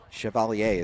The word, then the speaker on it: Chevalier: Chevalier has a last name that's spelled just like the Chevy Cavalier combination. Cavalier and Chevy. Chevalier is how it's pronounced, though, as this one's bounced